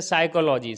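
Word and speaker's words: psychology: तो साइलेंट होता है अगर एस से पहले पी आय तो फिर क्या होता है साइलेंट होता है जैसे साइको थेरेपी तो यहां पर एस से पहले पी आया है क्या होगा साइलेंट हो जाएगा इसी तरीके से जैसे यहां पर इससे पहले पी आया है साइलेंट हो गया है इसी तरीके से साइकोलॉजी साइकोलॉजी के अंदर भी इससे पहले क्या है पी आया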